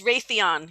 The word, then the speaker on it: Raytheon: And Raytheon, R-A-Y, how do you say it? It's Raytheon, yeah.